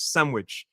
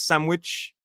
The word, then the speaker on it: sandwich: I find sandwich the pronunciation in British English is sandwich. American is sandwich with a ch sound at the end.